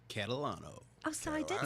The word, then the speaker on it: Catalano: is Mr Joey say your last name correctly Catalano oh so I did say it right okay